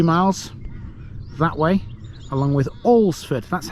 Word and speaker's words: Alresford: Cheratin, two miles that way along with Olsford. That's how you pronounce that. Olsford, four and three/4er miles.